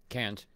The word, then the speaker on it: Cairns: Cairns. Did I pronounce it right?